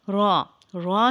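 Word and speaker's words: راء: the letter name is raw raw is no Dart raw and sahib a similar shape raw is a heavy sound later but sometimes light depending on the location it is pronounced when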